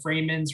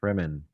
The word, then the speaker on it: Fremen: There's this other group of people called the Freemans or the Freemen. I forgot how it's pronounced. Fremen.